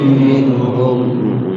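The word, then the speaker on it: منهم: Um minhum Ayo bacaum minhum minhum ada nun mati ketemu ha izhar dibaca jelas nunnya ada berapa huruf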